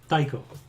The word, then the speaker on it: Taiko: Taiko, like a taiko drum, right?